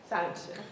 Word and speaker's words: Sonnenschein: Sonnenschein, you pronounce it for me. Sonnenschein.